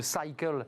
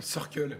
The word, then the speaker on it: Circle: Vous êtes le CEO de Cycle. Je l'ai bien dit, je l'ai bien prononcé? Non, Circle.